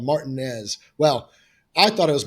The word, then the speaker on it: Martinez: I see the name martinz Elementary and I got real excited because I thought someone there might speak my language and they quickly corrected my pronunciation it's Martinez Martinez Georgia which incidentally I've I've